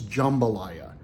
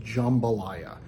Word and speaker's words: jambalaya: It's jambalaya. I have it in my brain that it's jam, J-A-M, the way it's spelled, but it's pronounced jambalaya.